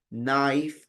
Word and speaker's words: knife: La K en inglés, así como está junto con una N, la K es muda, en cambio. Es como psicólogo que empieza con P. La P no se pronuncia. En English, la K no se pronuncia. Usted tiene knock, knocking, knife, es una K muda. Solo suena la N.